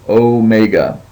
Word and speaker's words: omega: as we know is Omega and it just has the long o sound as in tone and so Omega now if you're looking